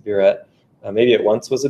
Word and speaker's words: burette: burette you ret um lots of people try to be fancy and pronounce a bureau but that's actually not correct it's a burette maybe it once was